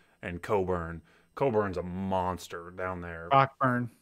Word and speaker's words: Cockburn: but their center kofi cockburn is also a really good player it's coburn coburn yeah that you pronounce it coburn apparently you the ck is silent where's he from anyways